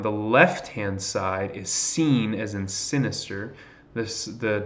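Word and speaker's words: שׂ: character on the right if it's to the right then it's Sheen that's to the left then it's seen okay so maybe some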